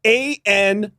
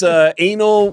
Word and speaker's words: Anil: A-N-I-L. Okay. I think he pronounced it Anil or something, but his name was Anil.